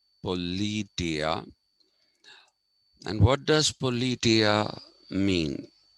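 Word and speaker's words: politeia: this term called politia that is how it is pronounced okay it is pronounced politia and what does politia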